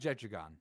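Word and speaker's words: Jetragon: But it is pronounced Jedragon.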